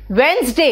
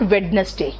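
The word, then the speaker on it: Wednesday: और दिन का नाम Monday ट्यूसडे वेंसडे, इट इज नॉट वेडनेसडे, वेंसडे Thursday, it इज नॉट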